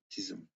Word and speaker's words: DISM: The deployment imaging servicing and management tool is pronounced DISM.